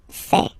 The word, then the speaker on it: fais: Je fais. Remember, final S not pronounced.